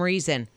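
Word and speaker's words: Reezon: that name for some reason reason that's it her daughter's name is reason but it's r-e-e-z-o-n but it is pronounced just like reason for some reason yeah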